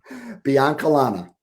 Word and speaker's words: Biancalana: So I don't want to screw up your last name, so pronounce it for me. Biancalana. Biancalana.